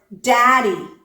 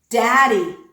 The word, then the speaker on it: daddy: the Alvar flat sound say the word daddy daddy okay the sound at the beginning of that word is a true d d the sound in the middle of that word is the alular flap daddy do you hear it it's very very